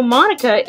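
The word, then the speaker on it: Monika: And it sounds like you already know Monica, is that right?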